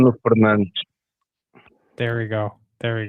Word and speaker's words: Bruno Fernandes: Bruno Fernandes. There we go. There we go. Perfect pronunciation, man.